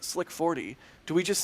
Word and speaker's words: SLC-40: If SLC-40 is pronounced slick 40, do we just say lick 39A?